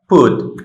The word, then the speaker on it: put: ওকে, ফ উ ঠ ফুট। এটা কিন্তু এই যে সাউন্ড, তিনটা সাউন্ড মিলে তারপর হচ্ছে এর উচ্চারণটা হয়েছে পিইউটি।